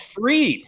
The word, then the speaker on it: Fried: it's known even less max freed spelled like fried in Atlanta he has